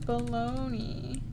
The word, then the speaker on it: Bologna: The city of Bologna. Oh, in Italy it's pronounced Bologna. Bologna. That sounds familiar. Yeah. And then in English we say Bologna.